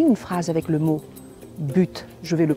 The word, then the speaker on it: but: la même chose c'est-à-dire quand vous avez un mot qui commence par une consonne ne prononcez pas le T mais si vous avez vousoul utiliser la fin d'une phrase ou vous avez une expression ou quelque chose une voyelle qui suit après le mot but vous le prononcerez il faut que j'ajoute